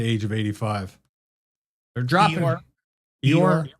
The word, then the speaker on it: Eeyore: of Optimus Prime and Io or whatever. He died at the age of 85. They're dropping. Eeyore? Is that how you say it? Yeah.